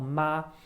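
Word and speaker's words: 吗: to curse but then when i have ma without any tone at all then it is a question particle it turns a sentence or a statement into a question so when i take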